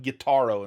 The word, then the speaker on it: Gyutaro: I say it like Gyutaro, and people make fun of me because it sounds like guitar.